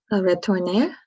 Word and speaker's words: retourner: When I say retourner, the R at the end is not pronounced. Okay. Yeah, as opposed to revenir, there is an R sound, but retourner, it's mute. The R is mute at the end.